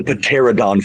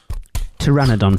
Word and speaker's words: Pteranodon: rocket or D the pterodon Flyers yes I pronounced the p in there once again December 27th Universal announced